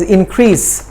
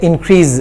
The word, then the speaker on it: increase: The actual pronunciation of this word is increase with the sa sound, not za. But most of us say increase, which is wrong.